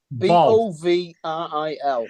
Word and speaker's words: Bovril: You also used to get Bovril flavored crisps. Oh, nice. Still get them. Yeah, What flavor? Bovril, yes. Bovril. Bovril. It's fucking vile. Bog I roll. love it. Bog roll. Bog. Bovril.